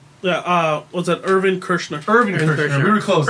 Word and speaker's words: Irvin Kershner: Irvin Kershner. Irvin Kirshner. We were close. Erwin I was saying Kershner.